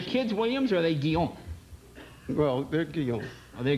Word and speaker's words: Guillaume: And I said, well, okay, I'll change it to the Frenchification of Williams, which is Guillaume. Oh, that's pretty good. Because I figured everybody could pronounce it, Little did I know that no one could pronounce it.